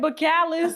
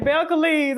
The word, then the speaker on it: Belcalis: Listen, I pronounce Cardi name Bacalis. It's like Belcalis.